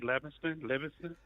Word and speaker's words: Livingston: I mean, some people say Livingston. People who can't read say Livingston, but people who can read look at the letters and pronounce them the way that they're arranged.